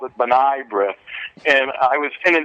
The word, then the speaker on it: B'nai B'rith: I have to admit it was a wonderful experience being at B'nai B'rith, George.